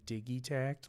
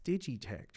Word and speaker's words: DigiTech: I I pronounce improperly I just watched easy bot say DIY TCT like 97 times in a row and I'm like no it's DigiTech right I'm not crazy